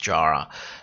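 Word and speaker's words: Yara: But why haven't we seen Jara, it's pronounced Jara, on All-Star season yet?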